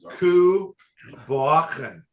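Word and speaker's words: Cù Bòcan: It says it's pronounced Ku Bocan with a soft throaty.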